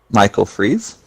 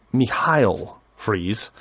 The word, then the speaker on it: Michael Fries: anybody to remember it Michael Freese okay I mispronounced it it's actually me Heil freeze but that's fine it's German so I'm assuming that's me Heil it's how it's supposed to be pronounced I think yeah yeah